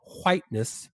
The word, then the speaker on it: whiteness: white dominant culture or whiteness we have to pronounce that h right whiteness refers to the